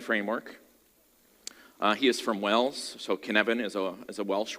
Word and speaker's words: Cynefin: aware of it so can Evan it's not pronounced in Evans brown-skinned Evan that's kind of the first test it's like when my colleagues said it's like Kevin with a sneeze that's a bit funny